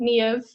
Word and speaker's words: Niamh: There's no V in the Irish alphabet. So the M and the H makes the V, Niamh.